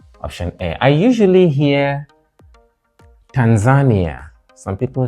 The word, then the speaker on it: Tanzania: what is it called what you have is primary secondary stress on the first syllable and then we have this so that is Tanzania tan Ania with a stress on the third syllable Tanzania not Tanzania or